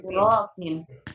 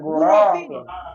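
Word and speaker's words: غُرَف: Fi baitina ghurafin. Salah, bukan ghurafin. Ro-nya pendek. Ghurafin. Nah, begitu. Ghurafin. Salah kalau ghurafin salah.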